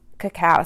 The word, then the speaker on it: cacao: So that is like the cocoa bean, but it's cacao.